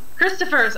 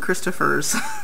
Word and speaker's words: Christoffers: Christoffers.